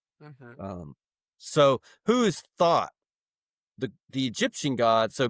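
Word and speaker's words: Thoth: th the Egyptian god I like thought because I think that's perfect. I heard Gemini Brett say that pronounced it thought and he mentioned like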